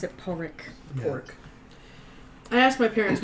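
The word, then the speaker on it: Pádraig: Technically speaking, it's pronounced Padraig, There you go.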